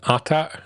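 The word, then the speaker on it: AT-AT: We got like a long scene inside an atata.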